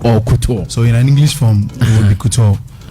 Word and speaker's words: couture: So is it pronounced couture or couture?